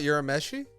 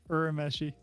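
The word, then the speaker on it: Urameshi: we've watched Adult Swim we learned the wrong pronunciation for yusuke's last name it's not euromeshi no that's not how you say it all it's like urmeshi really yeah they say you're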